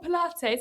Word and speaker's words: Pilates: And they were like, oh, Pilates, it's Pilates.